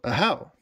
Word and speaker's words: Ahau: So it's Ahau with the emphasis on the second syllable. So Ahau.